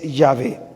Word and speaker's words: Yahvé: acasito no más entonces lo más fiel a la pronunciación de este nombre sagrado de estas letras divinas es yahvé lo otro es válido y se ha usado Por los siglos Jehová se ha usado Por los siglos Ah pero es un producto del artificio de lo que se